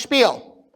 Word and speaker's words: Spiel: It's pronounced Spiel.